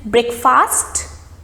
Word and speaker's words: breakfast: meal of the day is it breakfast the right pronunciation is breakfast breakfast so that fast that a sound is dropped and it is breakfast i had bread and